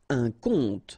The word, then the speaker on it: conte: Un conte, so exactly the same pronunciation, but then of course the meaning is different.